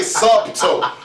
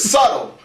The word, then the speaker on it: subtle: all up in there you ain't pronounced the doubt any any cat say DED you you you something wrong with you any cat say sub to something wrong with you the word is subtle and the word is